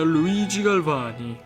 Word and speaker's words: Luigi Galvani: Ma il mio nome si pronuncia Luigi Galvani.